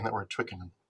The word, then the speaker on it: Twickenham: saying that we're at twickenham is that the right way to say it by the way it is that was pretty good pretty